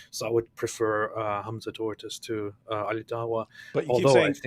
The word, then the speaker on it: Tzortzis: But you keep saying tortoise. Well, you're just misunderstanding me. Tzortzis. Tzortzis. Wait a minute. I was thinking maybe you can't pronounce that sound, but Germans have that sound.